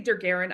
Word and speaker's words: Dergaren: I say Dergaren. I don't know if that's correct. Well, you made it up, so the word looked cool. you made it up. It's pronounced however you say it is. Yeah, I just thought, hey, he's got an apostrophe in it. Let's go with it. I say it as Dergaren.